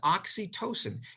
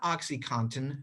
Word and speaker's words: oxytocin: this is being recorded this is oxytocin it is spelled in a very similar way to something else it is not oxycontin not oxycontin this is